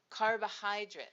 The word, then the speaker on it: carbohydrates: Well, the first syllable is easy. We put the image of a car. The second syllable sounds like the bow you put on a present, so we put an image of a bow. For the third syllable, let's put a person waving and saying hi. The last part of the word is a bit difficult, so we just use the letters themselves.